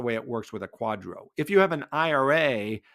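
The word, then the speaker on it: QDRO: issue something called a qualified Domestic Relations order pronounced Quadro so they will send that to the plan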